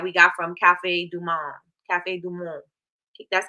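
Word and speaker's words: Café du Monde: chickory blend that we got from Cafe Dum Cafe dumon that's how you say it and so um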